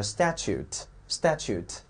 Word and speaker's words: statute: 第一个词 statute，注意 statute 这个 t 一定要发出来，因为 e 不发音了， e 不发音了叫 statute 啊，叫法